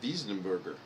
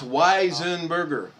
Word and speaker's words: Weisenberger: spin on it and said diesenberger that's not the way it goes oh it's weisenberger i know that i'm just saying if someone hadn't told me i would and asked me how to pronounce it i would put the german twist on it but that's me i got it it's weisenberger okay here we go ready